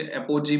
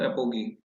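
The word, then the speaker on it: apogee: कुछ बच्चे एपोजी भी प्रोनाउंस करते हैं, तो एपोगी।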